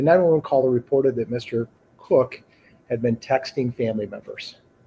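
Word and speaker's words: Koch: Um that that person's name is Michael Anthony Cook. It is spelled K O C H.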